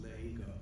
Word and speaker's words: Lego: Yeah, so it's called Lego Odyssey, and I did it in Paris, and in French it's Lego. Lego is like how you say ego in French. So, but you pronounce it Lego.